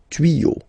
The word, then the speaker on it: tuyaux: Same rule here, you won't add S at the end, but instead of S you will put X, okay. Des tuyaux, same rule, you don't pronounce it.